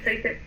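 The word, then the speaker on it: Zaitsev: Eso se pronuncia, por favor, Mildred. Saiced. Dígame. Saiced. Saiced. Ah, ok, Saiced.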